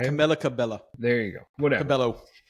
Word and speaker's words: Camila Cabello: Camila Cabello. Camilla Cabello.